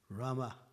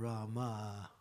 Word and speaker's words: Rama: Instead of Rama. So these are very, if you say Rama, you're saying the goddess of fortune. If you say Rama, Rama, then you're mentioning the actual pronunciation is correct.